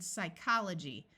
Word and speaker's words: psychology: F like in laugh when a word starts with PS the p is silent like in Psychology notice the CH uses